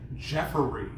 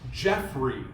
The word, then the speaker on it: Jeffrey: Obviously the last name is Polish, but my mom used to always say Jeffery, right? Like Jeffery. But my name's not spelled that way. It's Jeffrey, Jeffery. And so, like, for the longest time, I couldn't pronounce my own first name. And so, you know, was easy, but Jeffery was wrong.